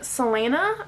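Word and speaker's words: Celaena: I'm going to say is you are following Selena that's how you say her name and she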